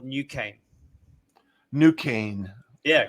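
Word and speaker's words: NuCane: goes to market is is a technology called new cane new cane yeah spelled with a k right uh you n-u-c-a-n-e n-u-c-a-n-e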